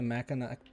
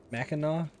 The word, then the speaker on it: Mackinac: Mackinac? Listen, why do they spell it like that if it's supposed to say Mackinac? You put a C there. You know how you pronounce a C?